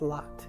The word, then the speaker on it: Lott: will you tell us your whole name and spell it? My first name is, like galore, V-A-L-O-R-E, and my last name is Lott, L-O-T-T.